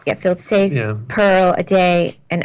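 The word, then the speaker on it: Philip Sayce: Philip Sace. Yeah, Philip Sace, Yeah.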